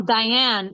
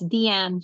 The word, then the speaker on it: Deanne: Oh, pronounce it's not DD, it's Deanne. Oh, I got it. Cool. Thank you for that. No, Diane. Deanne. It's Deanne. She's French.